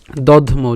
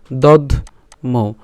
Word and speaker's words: দধ্মৌ: তাহলে পৌণ্ড্রং দধ্মৌ, দধ দ আর ধ একসাথে উচ্চারণ করলাম, আর ম এর সাথে ঔকারকে নিয়ে গেলাম, তাহলে কি হবে দধ্মৌ। যদি ভেঙে বলি দধ্মৌ।